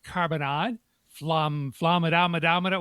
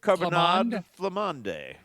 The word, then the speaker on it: carbonade flamande: The offerings include poutine carbonad flamadomadama. What did I do there? You're going to have to help me, Al. What? How do you pronounce that? Carbonade flamande.